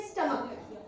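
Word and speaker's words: stomach: जैसे एक और वर्ड है स्टमक।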